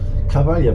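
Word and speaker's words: Cavaglia: Cavalia wird das also ausgesprochen.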